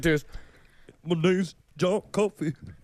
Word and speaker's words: Coffey: My name's John Coffey. It's like the drink, but not spelled the same.